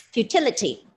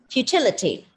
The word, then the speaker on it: futility: worked ends with why stress on the second syllable pronounce the word as futility futility futility futility means yes futility